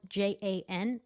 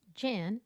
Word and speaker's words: Jan: Jan is a German name and it's spelled j a n, but it's not pronounced Jan, it's Jan.